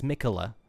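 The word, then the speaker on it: Miquella: I keep forgetting how to spell that, or how to pronounce that name, but it's Mikula.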